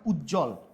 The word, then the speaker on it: উজ্জ্বল: দন্তনা দ এর উচ্চারণ হচ্ছে কিন্তু ব এর উচ্চারণ হচ্ছে না উজ্জ্বল এখানে কি উজ্জ্বল বর্গীয় উচ্চারণ হতে হচ্ছে কিন্তু এখানে আমার কোনভাবে কি বফলা উচ্চারিত হচ্ছে না ব এবং ম এর